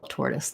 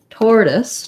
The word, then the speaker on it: tortoise: r t o i tortoise tortoise um we use a flap here as well but it has the o-r letters and actually the o-r sound so often times the